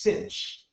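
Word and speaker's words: sinh: X which is the hyperbolic sine we often pronounced cinch so this is a hyperbolic sine and we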